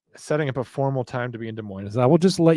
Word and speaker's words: Des Moines: Yeah, Las Mujeres, actually, Abby was in here talking about the Des Moines near Seattle, but she said it's pronounced Des Moines.